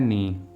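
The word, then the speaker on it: knee: के साथ देखते हैं वर्ड है नी यानी घटना यहां पर के के साथ एन आ रहा है इसलिए के जो है वह साइलेंट होगा दोस्तों के के साथ एन आ जाए तो के हमेशा साइलेंट पढ़ा जाएगा यानी के की आवाज नहीं निकलेगी यहां पर वर्ड है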